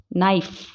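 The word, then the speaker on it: knife: के साइलेंट होता है जब वो N से पहले हो, जैसे कि नो, इसको नो ही पढ़ेंगे, के को साइलेंट रखेंगे। Knowledge, night, नी, नाइफ, knock, not, नॉट नहीं पढ़ेंगे, क्या पढ़ेंगे?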